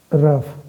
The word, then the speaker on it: rough: जैसे एग्जाम्पल के तौर पे हम इसको बोलते हैं रफ, ठीक है, ROUGH, बट यहाँ पे इसका जो GH का है, इसका जो प्रोनाउंसिएशन होता है, ये क्या हो जाता है, ये होता है आपका F, यानी फोनेटिक ट्रांसक्रिप्शन इसका करेंगे तो यहाँ पे हमारा F प्रोनाउंसिएशन होगा।